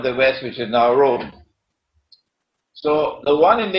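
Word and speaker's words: Rum: This is his prophecy, that Muslims are going to form an alliance with Rome. It is pronounced as R-O-O-M, Rome, but the Arabic word Rome is, it describes Eastern Christianity.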